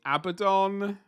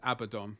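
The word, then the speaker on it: Abaddon: are very like no it's it's it's actually abdon or whatever and to them I say no you're wrong because it rhymes with abadon you're wrong there you go simple um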